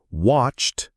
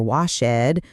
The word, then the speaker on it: watched: Played ends in a d sound. Watched ends in a t sound. needed ends in it because it ends in a t or d. It's not play Ed or watch Ed or like Ed. It's played, watched, liked.